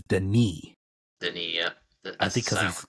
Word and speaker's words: Denis: I was part I was pronouncing uh the director's name wrong his name is Deni Deni yeah I think